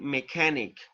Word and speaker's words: mechanic: look at the chat the pronunciation for those words is a architect and mechanic all right when you have the ch together in that case uh you pronounce it like letter k all right architect mechanic